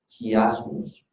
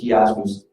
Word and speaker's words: chiasmus: And he's doing what we call in Greek, chiasmus. Dr. Andres, how do you pronounce chiasmus correctly in Greece? Chiasmus. Chiasmus. It's like an H rather than a CH.